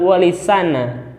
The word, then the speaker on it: Walisana: Muhammad beliau berpendapat bahwa kata-kata Songo pada istilah Wali Songo merupakan perubahan atau kerancuan dari pengucapan kata sana yang juga berasal dari kata dalam bahasa Arab Kana mulia yang searti dengan kata Mahmud terpuji sehingga pengucapan yang betul adalah Wali sana yang berarti wali-wali yang terpuji hampir Senada dengan Profesor